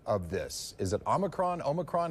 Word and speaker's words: Omicron: gives us time wait why is he saying omnicron isn't it omicron why does he keep